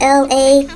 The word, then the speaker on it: Elay: Hey guys, it's me, LA, pronounced like Los Angeles, California, like LA, like L.A. but it's really spelled ELAY. So hey guys, it's me, LA.